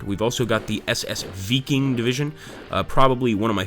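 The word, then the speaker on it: Wiking: We'll send in the Vikings and or the Vikings. Actually, I think the W in German is pronounced as a V, so it would be the Viking division.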